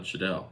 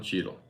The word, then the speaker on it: Cheadle: to do uh Josh I always pronounce the name wrong Don Shadel Don Cheadle I think it's Cheeto Don Cheadle is a